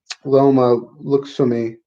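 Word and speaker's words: Loma Lookboonmee: She's taking a short notice fight against Loma Luxumi.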